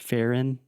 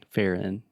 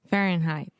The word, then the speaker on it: Fahrenheit: closing that sound okay so when you say in like I am in the kitchen it's the same thing Farren can you say that for not fair in Fahrenheit Fahrenheit perfect awesome very high